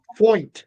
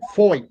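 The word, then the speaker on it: Feucht: Oh, I finally know how to say his name. Fo. I've heard him say it. Fo. Okay. Yeah. Like like ho. H O Y T. F. F O Y T is the way I've heard.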